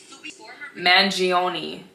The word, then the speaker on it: Mangione: by Luigi man manoni man it's Italian hold on mangioni Luigi mangioni I would like to